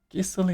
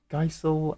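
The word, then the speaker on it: Gysahl: Gissel is not how I would have pronounced that. As you can tell by my Geisel and Gisal.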